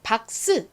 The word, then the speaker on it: box: 기억 받침 생기면서 박스 저희는 박스 이렇게 스 발음을 되게 세게 하지만 영어식 발음은 스 발음이 바람 빠지듯이 굉장히 약하게나요 자 들어보세요 박스 박스 한